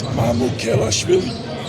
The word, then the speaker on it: Mamukelashvili: And I hope you don't mind, but would you give us your preferred pronunciation of your last name? Uh, it's Mamu Kelli.